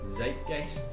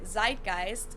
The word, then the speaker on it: Zeitgeist: Zeitgeist, yeah.